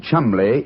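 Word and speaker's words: Cholmondeley: Now, being an American, he had no reason to know that the name Chumli is in no way pronounced the way it is spelled.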